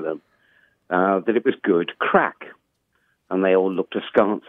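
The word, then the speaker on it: craic: that it was good crack. And they all looked askance at me, thinking I was talking about cocaine. This word crack, spelled C-R-A-I-C, but pronounced crack, is common parlance in Ireland.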